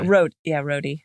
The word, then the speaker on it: Rhodey: And Rhodey just like moseys in. And he just seems so slow. Just Rosie, like, Rosie. what? Oh, wait, no. Yeah. Rhodey. Right.